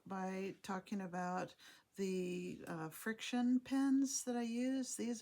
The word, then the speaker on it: FriXion: uh and the reason that they call it friction is that you write on it and then